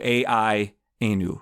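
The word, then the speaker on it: AI-anu: about AI and is called I-Anu, A-I-Anu, rhyming with Dayenu.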